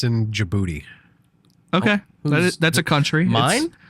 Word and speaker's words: Djibouti: I'm pretty sure this one said it's in Djibouti.